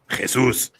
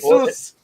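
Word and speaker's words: Jesús: Jesus. You got to get that. There's that accent on the U. You got to raise that intonation on the U. Jesus. Right? Jesus.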